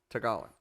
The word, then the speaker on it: Tagalog: tagala tagalong that's how you say it tagalon tagalog so let's say in that language chair has